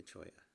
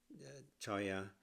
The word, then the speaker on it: cholla: Choya to choya. Oh, here we go. How to spell how to pronounce it? Choya. Choya. Choya. Chiaoya. Okay. Has that Spanish ina sound that the double L makes.